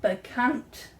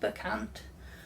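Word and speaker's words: Bekant: desk uh it is the begant i think it's pronounced bakant the cant um desk sit and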